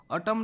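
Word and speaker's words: autumn: question को जीवा which letter is silent in ऑटम row silent Kota अछि एन टा राइट आंसर हम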